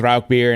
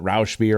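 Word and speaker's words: Rauchbier: will I I do agree that it is Rock beer and I hear people pronounce it Rous beer all the time and you know in the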